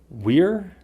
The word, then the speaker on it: we're: I've read that there's 3 pronunciations, but I think that there's only 2. We're, were. I personally use both, but I think I use were a little bit more.